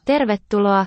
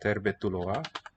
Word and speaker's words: tervetuloa: I can just tell from looking at the word how many syllables it's going to be, how many beats if I counted it out. Everything's very regular and predictable. Ter. This R is closing a syllable.